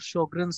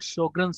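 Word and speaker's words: Sjögren: But before Second World War, their official language was German, and in German, SJ is pronounced like SH in English.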